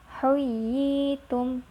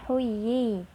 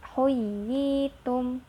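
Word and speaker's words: حييتم: Atau huyitum, jangan huyi, tapi huyitum.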